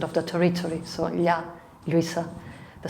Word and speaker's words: Lluisa: Then we have a letter, the L, double L, that can be pronounced as Ya, as in my name, Lluisa, or Ya, as in